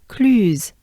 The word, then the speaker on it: Cluse: Cluse. Again, the sound U, U, U. Drop your jaws. U. Cluse. Cluse. Right?